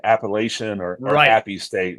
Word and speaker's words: Appalachian: It's either Appalachian or App State. It drives me crazy when they say Appalachian or Appy State.